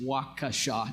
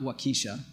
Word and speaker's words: Waukesha: does our region need so WCTC and it's pronounced wakha not wakisha which is how people love to pronounce oun